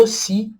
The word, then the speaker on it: aussi: Então, a U tem som de O. SS, som de S, o som de C cedilha, e o I no final. Ossi. Sendo que a última sílaba é a sílaba tônica.